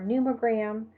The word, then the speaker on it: pneumogram: A PN at the beginning of a word, you only pronounce it as an N, so pneumonia or pneumogram.